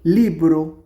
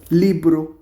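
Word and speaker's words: libro: বই বুক তো বুককে ইটালিয়ান ভাষায় কি বলে লিব্রো এল আই বি আর ও লিব্রো এটা এটা একটা রাবার তো রাবার রাবারকে ভাষায়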